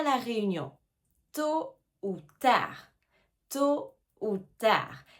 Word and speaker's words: tôt ou tard: Attention ici aussi aux lettres qu'on ne prononce pas. Tôt hein. Le t à la fin on ne prononce pas. Et le d à la fin de tard non plus.